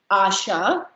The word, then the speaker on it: Asha: So my suggestion would be, like if you hear your student's name and if they say Asha, you just put a long vowel sound on top of that A.